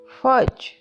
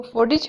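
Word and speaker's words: fudge: बर्फी की इंग्लिश है फज, फज को फोडिज हरगिज नहीं बोलना, फज।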